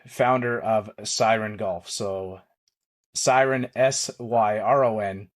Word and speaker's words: Syron: So Syron, Syron, but pronounced like Siren, like on the cop cars kind of thing, right?